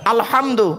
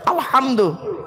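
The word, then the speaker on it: الحمد: আলহামদুলিল্লাহি রব্বিল আলামিন, বলেন তো আলহামদু, গলার ভেতর থেকে হে এটা উচ্চারণ করবেন, আলহামদু, এর মানে হচ্ছে সমস্ত প্রশংসা আল্লাহ তোমার।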